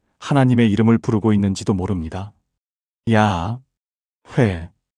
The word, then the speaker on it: 야훼: 하나님의 이름 야회는 사실 말로 발음하는 이름이 아니라 숨결로 내쉬는 이름이라는 겁니다. 한번 따라해 보세요. 숨을 천천히 들이쉬어 보세요. 야. 그리고 천천히 내쉬어 보세요. 회. 야. 회 들이쉬고 내쉬고 이게 하나님 이름의 소리와 비슷하다는 거예요.